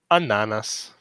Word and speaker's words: ananas: call them something else the stress has to be on the second to last syllable ananas but here it's on us how do you say